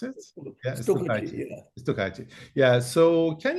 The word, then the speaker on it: stukachi: Stukachi, is that how you pronounce it? Yeah, Stukachi.